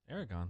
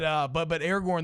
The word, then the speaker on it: Aragorn: Aragon. Master Tracker Aragorn. Yeah, I said his name wrong.